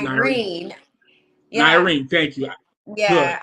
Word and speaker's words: Nirine: So I always say to people, it's like Irene with an N spelled with an N. Exactly. I just wanted to make sure. NIRINE.